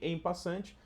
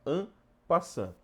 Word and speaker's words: en passant: do xadrez ampa Tá bastante gente chama ele de emp passante Mas a forma correta de pronunciar é an passan muito bem neste momento